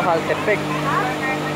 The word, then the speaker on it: Jaltepeque: Esta vez partimos desde el estero Jaltepec. Creo que se escribe Jaltepeque, pero se pronuncia Jaltepec.